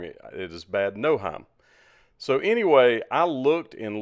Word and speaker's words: Bad Nauheim: hotel and this is in Bad Nauheim or bad no Heim as I've been told recently I was pronouncing it wrong it is bad no Heim so anyway I looked and looked and looked